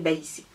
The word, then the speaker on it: Baïssé: Mon prénom s'écrit en réalité B-A-I tréma, 2 S-E accent aigu. J'ai enlevé le tréma parce que bon, étant en Angleterre, etc., la prononciation, enfin le tréma, bon, ça n'existe pas en anglais. Je me suis dit que pour faciliter la prononciation, je vais me mettre un H en fait. Mais je m'appelle Baïsé.